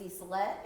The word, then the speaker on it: Isolette: My name's Isolette. It's spelled with a Y, pronounced like an E, Isolette.